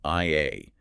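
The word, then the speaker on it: 愛: But Enfield takes it deeper than just a modern English acronym, doesn't he?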